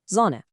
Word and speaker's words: Sonne: First, whenever you see an S at the start of a word, it's a soft sound, like in English Z. So the word for sun is Sonne.